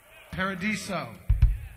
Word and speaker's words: Paradiso: Is that what it's, how it's pronounced? Or is it the Paradiso? Paradiso. Correct, first time.